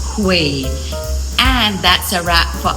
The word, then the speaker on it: Huế: I'm always tempted to say Huey cuz it's H u but it's pronounced Hui.